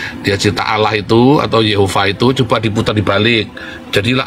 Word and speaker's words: Yehova: dia bilang begini ya namanya bukan yahwe namanya adalah Yehova diajarin cara bacanya Ya Mengapa ini karena ini Yehova dua jadi kamu harus benar dulu dalam kepalamu ketika tulisan y kepalamu harus bilang Yehova bukan yahwe selama kamu bilang yahwe